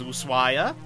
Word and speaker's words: Ushuaia: a sign it says loose wire um you don't pronounce the H and I'm the name